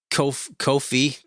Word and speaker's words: Ko-fi: Ko-fi. Man, I can't remember how to say it. Kofi. It rhymes with no fee.